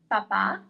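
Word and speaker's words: papà: So the first two words are papa with the accent, papa, and the second one is papa. Listen to the difference.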